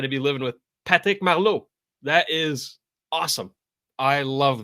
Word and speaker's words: Marleau: It's Patrick Marleau, you know.